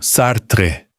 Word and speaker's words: Sartre: O nome termina num encontro consonantal e as duas consoantes soam, seguidas no máximo de uma vogal neutra levíssima. Algo como Sartre. O que é mudo é o E final, que é coisa completamente diferente.